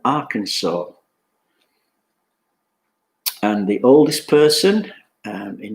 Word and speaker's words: Arkansas: 2 American states, which we pronounce with the silent S, Illinois and Arkansas.